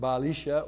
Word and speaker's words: Baalis: Jeremiah wrote it as he heard it, Baalissa. But in the east, they would have pronounced it Baalisha or Baalyasha.